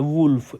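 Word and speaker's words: wolf: वोल्व्स, भेड़ियों के group को, यहाँ पर जो वोल्व्स है ये वोल्फ का प्लूरल है, वुल्फ, इसका जो करेक्ट प्रोनाउंसिएशन है ये वुल्फ है, तो इसके प्रोनाउंसिएशन को थोड़ा ध्यान से आपने समझना है।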